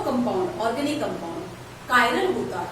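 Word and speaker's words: chiral: कायरल वो carbon atom, ऐसा compound जिसमें कम से कम एक कायरल, इसे कोई चिराली बोलते हैं बट सही प्रोनाउंसिएशन कायरल है, ऐसा ऑर्गेनिक कंपाउंड जिसमें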